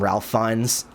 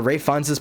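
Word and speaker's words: Ralph Fiennes: in my last video I pronounced his name Ralph fins sorry about that but Ray Fin's performance in conclave is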